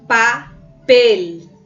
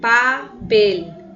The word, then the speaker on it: papel: Observe a palavra papel. Papel. Pel. Então, você consegue identificar que tem aí uma tonicidade na palavra, na sílaba em si, né, gente?